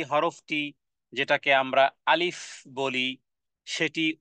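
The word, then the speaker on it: alif: তাহলে আলিফ যদি বলি দুই ঠোঁটকে যদি একত্রিত বলি করি এটা ভুল মাখরাজ মাখরাজ মানে উচ্চারণের জায়গা এটা ভুল তাহলে বলতে হবে আলিফ আলিফ মুখের মধ্যখান থেকে যেই খালি জায়গা জায়গা থেকে উচ্চারণ হবে এবং এখানে কোন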